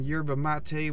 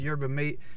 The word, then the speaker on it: yerba mate: And I'm continuously riding the word wave, and I just got a burst of energy because I had some yerba mate, which some people mispronounce as yerba mate.